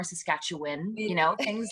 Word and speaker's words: Saskatchewan: things you know like it's not saskatchewan it's more saskatchewan you know things like